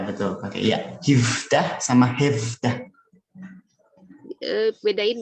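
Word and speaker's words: هفده: Hifdah sama hefdah. Bedain bacanya gimana Ustaz? Hefdah itu formal yang ini. hefdah. Tapi kalau informalnya jadi hifdah.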